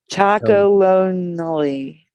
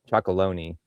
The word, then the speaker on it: Chocolonely: Right, but I think it's pronounced different. Like they're thinking like chocolate. So chocolonely.